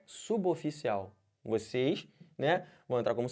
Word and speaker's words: suboficial: Olhem para essa palavra aqui. Como é que fala isso? Quem falou suboficial errou. Isso aqui é suboficial.